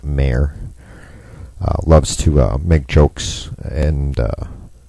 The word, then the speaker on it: Maher: mayor or bill maher who pronounces it mayor loves to make jokes